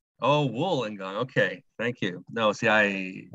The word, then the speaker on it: Wollongong: It's Wollongong, as in wool. Oh, Wollongong.